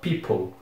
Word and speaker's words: people: Eu não acho nada intuitivo essa pronúncia, porque tem essa letra O aqui no meio, mas nós ignoramos essa letra quando nós vamos pronunciar, e nós pronunciamos people.